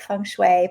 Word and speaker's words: Feng Shui: got it, Feng Shui.